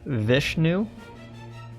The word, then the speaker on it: Vishnu: so I just looked it up it is pronounced Vishnu it's not viche keep popping my John it